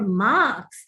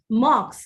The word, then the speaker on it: marks: Okay, you get to know your marks and not mocks.